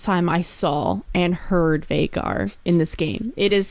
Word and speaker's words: Veigar: exceptionally tall yeah and that is how you say it everybody it's vagar that's how the rer says and they even give